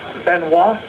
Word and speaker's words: Benoit: Uh Benois. It's spelled B E N O I T.